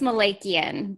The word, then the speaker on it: Malakian: last name careca very close how do you pronounce your lesson it's Malakian but in the tricky one in on my